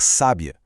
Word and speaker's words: sábia: E se a gente puxa esse acento para a primeira sílaba, criamos o adjetivo, uma mulher sábia.